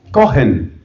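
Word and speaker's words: Cohen: lo busquen en internet es cogen que se escribe c o h e n búsquelo búsquelo después ahora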